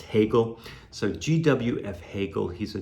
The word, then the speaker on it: Hegel: Actually, it's pronounced Hegel.